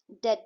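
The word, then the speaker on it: debt: the face of adversity डेट जो word होता है उसमें भी साइलेंट होता है मथिल्डा एंड हर हस्बैंड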